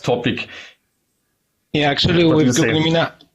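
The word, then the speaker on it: Meena: new chatbot from Google, Mena, how do you pronounce it? Yeah, it's Mina. I had problems, the same problem. Yeah, Mina.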